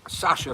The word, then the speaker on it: Sasha: Sasha from California. I think that's still pronounced Sasha, like my kid, right?